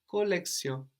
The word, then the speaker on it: collection: collection and in French collection like with an S and we also notice at the end is barely heard fairly pronounced or not